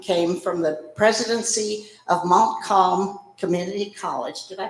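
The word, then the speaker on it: Montcalm: recently president young came from the presidency of Mont calm community college did I pronounce it right yes okay in Sydney Michigan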